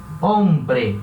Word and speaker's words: hombre: Por exemplo, a palavra hombre. Hombre é homem. Então esse H, que vem aqui no início, sempre vai ser mudo. A gente pronuncia como se ele não existisse, né? Hombre.